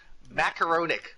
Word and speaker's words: macaronic: Macaronic, pronounced like Macaronic? macaroni.